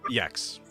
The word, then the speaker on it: Iekz: Iekz. Yep, Iekz.